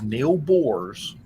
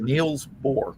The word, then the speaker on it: Niels Bohr: the guy was Neil Bohr's. Or, Oh. I'm sorry, Niels Bohr.